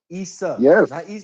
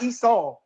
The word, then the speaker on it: Isa: No, Issa. Not Esau.